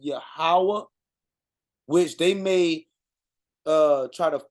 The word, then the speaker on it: Yahweh: this, we talking about the same God, but Yahweh say seek his face.